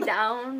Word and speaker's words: Dvwn: It could be down, but... Down, not Dvwn.